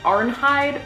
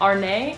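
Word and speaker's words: Arnheid: I believe I'm saying that correctly, her name, because Americanized, it looks like Arnhide, but I'm pretty sure that's not how they pronounce it in the anime. It's more of Arne.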